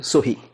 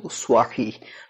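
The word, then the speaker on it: صحيح: এবার আসি সোয়াহি উচ্চারণ, যেমন সিন সোয়া, যেমন সহি সাহি এরকম বলবো, কিন্তু উচ্চারণটা কিন্তু সোয়াহি, তার মানে সিন না সোয়া, তো সিন আর সোয়ার এই পার্থক্যটা আলাদাভাবে উচ্চারণ করতে হবে।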